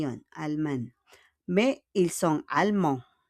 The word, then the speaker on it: allemands: Mais ils sont allemands. Allemands. On ne prononce pas le dièse.